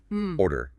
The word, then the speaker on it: order: Order has two parts, two syllables. Order. What you need to know for natural rhythm is that the first syllable carries all the weight. It is much stronger than the second.